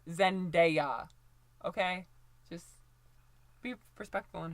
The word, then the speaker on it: Zendaya: as any woman of color, Zendaya, and it's pronounced Zendaya, not Zendaya, not Zendaya or whatever. It's Zendaya, okay?